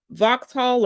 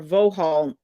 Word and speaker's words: Vauxhall: Jeep, Lancia, Maserati, Opel, Peugeot, I think I'm pronouncing that correctly, Ram, Vauxhall or Vohall, Freedom Move, and Leases.